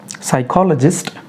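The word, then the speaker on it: psychologist: साइकियाट्रिस्ट, साइकोलॉजिस्ट और साइको, पी से start होने वाले वर्ड और उनके बाद में एस आए तो हम लोगों ने पी को पढ़ना नहीं है, उसे साइलेंट रखना है।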